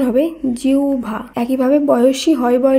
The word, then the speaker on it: জিহ্বা: কারণ এখানে আমাদের মনে রাখতে হবে হয় বয়ের আগে যদি হ্রস্ব ইকার থাকে তখন হয় বয়ের উচ্চারণ আবার হ্রস্ব ভ এইভাবে করতে হবে।